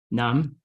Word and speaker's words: nyams: Nam. Nam. Don't pronounce the S in that one.